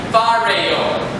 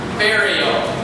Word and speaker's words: Pharaoh: For example, the word Pharaoh. Pharaoh of Egypt, right? We use 2 syllables. But if you look it up, it's actually Pharaoh. Pharaoh. Actually 3 syllables.